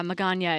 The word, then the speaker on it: Magana: tip um with uh magana it rhymes with lasagna okay so my magana